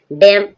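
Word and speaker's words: damn: डम डम मींस बुध बदुआ देना। बद्दुआ किसी को बदुआ देते हैं। बद्दुआ देना कोसना बद्दुआ देना। डैम डैम एम के बाद एन साइलेंट है। कोई साउंड नहीं है।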